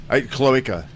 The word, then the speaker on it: cloaca: Cloaca.